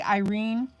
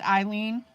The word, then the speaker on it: ILene: saw your comment yeah people mispronounce my name all the time they'll say Irene when it's eileene or they'll say Elaine Okay so we've got